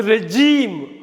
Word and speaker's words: regime: உச்சரிக்கிறப்ப ரெஜிம்னு படிக்கக்கூடாது, ரெஜீம் அப்படின்னு படிக்கணும்.